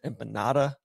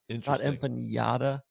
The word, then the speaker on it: empanada: It's empanada, not empanada. So I need to empanada. There's no like squiggly line above the N.